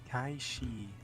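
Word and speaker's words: Cait Sith: Instead, alludes to the Gaelic fairy cat, Kaifsith? Kaishi. Kaifsith. Kaishi is Ah, also okay. how you pronounce the name of the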